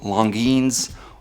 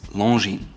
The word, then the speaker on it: Longines: Next up is Longines. It's not Longines or Longines, it's Longines.